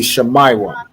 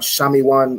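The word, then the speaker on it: Shimon: think isai got it so it be shemay one right wherever you see the letter i you want to pronounce it as I right it's not shami one or um anything else it be shamai one right Shayan excellent um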